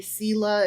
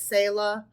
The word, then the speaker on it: Selah: Apparently, Selah is Selah.